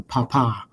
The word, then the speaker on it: Papa: And you pronounce papa. Is it papa, not papa? Like, did I mispronounce that? It is not papa. So when you're communicating over your equipment in the military, you emphasize the papa.